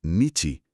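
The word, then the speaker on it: にち: escrito en un papel se pronuncia nichi, que es como lo dicen en China.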